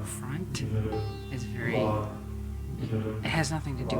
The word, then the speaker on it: waheguru: And we're gonna do waheguru. Waheguru just means glorious God, wondrous God, and everything. And we do it in two syllables. So you will just go: wahe-guru, wahe-guru.